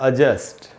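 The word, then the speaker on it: adjust: बात बता दूं, तो पूरी इंग्लिश लैंग्वेज में जितने भी वर्ड्स ए, डी और जे से शुरू होते हैं, उनमें सब में डी साइलेंट होता है। जब जिसको हम बोलते हैं एडजस्ट, एडजस्ट हो जाएगा, एडजस्ट कर लेंगे, उसमें भी डी साइलेंट होता है एक्चुअली, और उसका शुद्ध उच्चारण है एडजस्ट।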